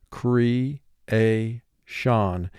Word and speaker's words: creation: word cree a shawn and in this word we have syllable rule 3 because we have e in the first syllable and a in the second syllable they do not form a team in this word most